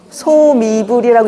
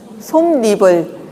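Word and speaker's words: 솜이불: 소미불이라고 읽지 않고 솜리불, 시경유가 아니고 시경유, 니은이 첨가가 되죠.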